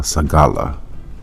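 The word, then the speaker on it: סגולה: So, we go into that word peculiar in the Hebrew and that word pronounced is uh sagala.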